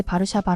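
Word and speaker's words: Warszawa: 살고 있는 곳이죠 그런데 바르샤바의 영문식 발음이 다른 외국인은 제대로 발음하지 못하는 편이에요 하지만 한국만 거의 유일하게 바르샤바 아고 하죠 자세히는 모르지만 한글의 발음이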